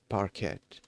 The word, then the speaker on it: parquet: Parquet like butter like the butter substitute or the hardwood floor. Okay. What was I saying? Yeah. Okay. Uh the T the T at the end is silent.